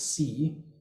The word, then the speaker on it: sa: to be confused with what is conventionally pronounced in modern Egyptology as sa, son, but vocalized in Greco-Roman Egypt rather as si, is on record in